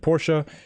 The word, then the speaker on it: Porsche: 997 Porsche 911 Turbo and I said Porsche that is the correct way to say it I might miss say